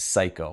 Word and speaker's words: psycho: And if you notice, the P is silent, right? So it's psycho.